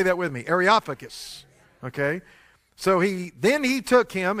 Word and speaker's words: Areopagus: Areopagus. Y'all say that with me. Areopagus.